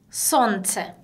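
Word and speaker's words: солнце: 손체. 손재. 그쵸? 우리 마지막에 예. 근데 이 예 같은 경우는 마지막에 와 있는데 강세가 없어요. 근데 그대로 예 발음 났네요.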